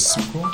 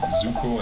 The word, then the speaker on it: Zuko: Because you can pronounce it like Zuko is Suko, Yeah. but it's like a soft S. It's written with a Z. Zuko and Sokka.